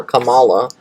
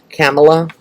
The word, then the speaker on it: Kamala: going on with camella i want to call her kamala not to be shady that's like how i would say it like but i guess like tamala but it's like kamala kamala kamala okay okay let me